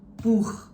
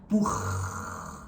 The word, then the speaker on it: Buch: Buch, buch, buch. But also one thing you have to know that the CH sound is never really that long, like the hissing sound. It's not buch.